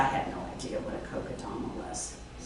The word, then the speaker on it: Kokedama: How do you pronounce this? Kokedama.